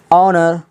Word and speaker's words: honour: ऑनर, HONOUR, यहाँ पे देखिएगा H के बाद O आया है तो H भी क्या हो गया, साइलेंट हो गया।